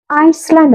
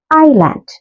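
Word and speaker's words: island: next വേഡ് next വേഡ് ഐസ്ലാൻഡ് എന്നാണ് വായിക്കുക ഐലാൻഡ് ഐലാൻഡ് എസ് ഐലൻഡ് ഐലാൻഡ് next വേർഡ് ആണ് ഡബ്ലുഎ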